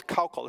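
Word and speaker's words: Koukl: If you want to get a great book on sharing your faith, Greg's book on called Tactics, Cockle. It's spelled K-O-U-K-L, okay?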